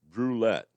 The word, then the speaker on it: Brouillette: Oh, well, it's James Brulette, Brouillette, pronounced like St. Keith said, roulette with a B.